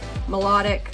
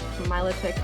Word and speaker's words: Milotic: get something like that that's a really cool melodic Milotic I always say it wrong uh beautiful V